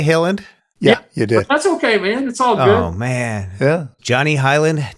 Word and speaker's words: Hiland: called voiceover and that's how your name is pronounced with pretty synthetic speech ya Halen look for our listeners this Highland yeah it spelled H ila and D so it's Johnny Highland dotnet did I say Hiland yeah you did Johnny Highland dotnet Johnny I